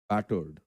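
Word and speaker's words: battered: पहला वर्ड है हमारे पास बैटर्ड, एडजेक्टिव है बैटर्ड। यहाँ पे BAT जो है इसको आपको वोकल स्ट्रेस ज़्यादा देना है, कैपिटल्स में लिखा हुआ है, तो ये प्रोनाउंसिएशन का सिंपल सा टिप होता है।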